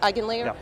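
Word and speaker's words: EigenLayer: to create an omni chain strategy you're using Egan layer is that how it's pronounced igen layer okay so um tell us about the recent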